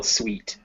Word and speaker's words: suite: sweet room yes yes like a like a hotel suite yeah and so it rhymes with meat so yeah very good